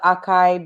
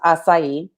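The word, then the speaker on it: açaí: people call it the akai berry or aka however you pronounce it in the states i don't know but the correct pronunciation is acai and it's portuguese it comes from brazil um and it's so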